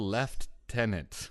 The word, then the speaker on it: lieutenant: hero left Tennant decker what is the left Tennant I've never understood this and I'm kind of nothing on you to pull me out here British pronunciation of the I get that I get that but it's like they say schedule and that kind of makes sense but there's no F in lieutenant I don't know why